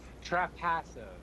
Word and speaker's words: Trapasso: Trapasso, I think is how it's pronounced.